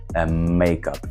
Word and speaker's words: makeup: слово буде вже одне makeup і наголос буде на перший склад makeup I need to